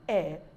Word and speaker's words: heir: the throne I'm an heir through the throne so whenever we see any of these four words please and please know that the h silence and they attract the article and not a now exceptions we have